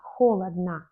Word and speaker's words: холодно: Souvent, dans les adverbes, comme холодно, холодно, première lettre O est accentuée, mais la fin n'est pas accentuée, donc on prononce comme A, холодно.